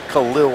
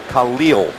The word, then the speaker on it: Khalil: He wants to be known not as Khalil Mack, Khalil Mack.